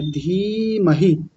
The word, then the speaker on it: धीमहि: आसान है फिर है धीमहि देखिए पहले दीर्घ इकार फिर ह्रस्व इकार यानी बड़ी ई की मात्रा फिर छोटी इ की मात्रा तो पहली वाली को लंबा खींचेंगे और दूसरी वाली को थोड़ा जल्दी बोलेंगे धीमहि आगे है धियो धियो